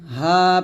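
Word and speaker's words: هُوَ: ফু বলি আমরা অনেকেই ফু না এটা হা পেশ হু এটা কুল হুয়াল্লাহ হবে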